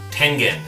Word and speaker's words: Tengen: fist fights over it are you ready tengen it's japanese 10 stands for heaven